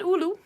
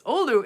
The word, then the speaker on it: Oulu: It's not Oulu, it's Oulu.